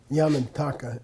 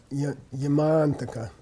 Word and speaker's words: Yamantaka: In English, we normally accent the penultimate syllable, the next to the last syllable. Ratnakara, Ratnakara, Yamantaka, Yamataka. Yeah, but if you know Sanskrit, you should be kind of giving more emphasis to the long vowel.